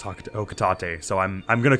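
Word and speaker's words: Hocotate: very minimal I was I always pronounced it Haka Tate um not knowing it was okatate so I'm I'm gonna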